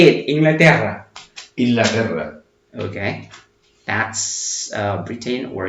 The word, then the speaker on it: Inglaterra: Okay, UK or Britain is Inglaterra, Inglaterra, Inglaterra. Okay, I cannot pronounce it like good because the double R is quite difficult in Spanish. Say it, Inglaterra.